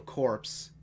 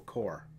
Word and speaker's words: Corps: of that for example instead of pronouncing Imperial corpse I you know people are saying Imperial core which you know when